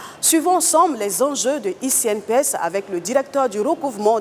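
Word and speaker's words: e-CNPS: La CNPS, dans la dynamique de la vulgarisation de sa nouvelle plateforme numérique ICNPS, qui s'écrit ECNPS, a organisé une rencontre avec les employeurs.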